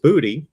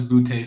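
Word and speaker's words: Boutte: somewhere down there and not just booty which i understand that's how he pronounces his name now we thought it was bootay for the longest but hey yeah it's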